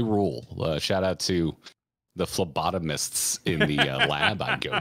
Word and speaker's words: phlebotomist: Phlebotomist? I believe that's right. I don't know how to pronounce it. Thank you, Baggins Wolf, in the chat. Phlebotomist? Phlebotomist.